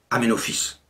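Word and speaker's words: Aménophis: 1936 et encore actuellement le nom d'aménophice fils de Apou s'écrit en hiéroglyphe amen rotep mais il se prononce amenophice il reconstitue ce temple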